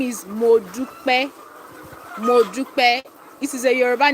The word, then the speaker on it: Modupe: Yeah, so it is pronounced Modupe.